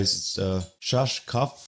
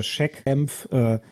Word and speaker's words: Schachkampf: I'm gonna try Schachkampf fantasy chess. Schach. Schach. Schach. Most English people say Schach oder Schachkampf. That's okay too.